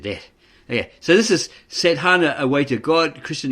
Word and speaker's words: Sadhana: Sadhana, pronounced Sadhana, is an Indian word rich in meaning, such as discipline, a technique, spiritual exercises, and approach to God.